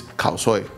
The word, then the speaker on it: Khao Soi: Most Indians know this as a Burmese dish, and the actual name and pronunciation is Ono Khao Sui. Whereas in northern Thailand, where it's equally famous, especially in the city of Chiang Mai, it's Khao Soi.